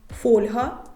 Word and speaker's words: фольга: мене колія як колір фольга як Ольга Руслан русло Ми ж